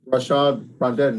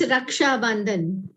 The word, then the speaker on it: Raksha Bandhan: and sisters, this is Rashad Rondon Day, right? For all the men and women, isn't that correct? How do you say it? I'm sorry, I might have said it incorrectly. It's Raksha Bandhan.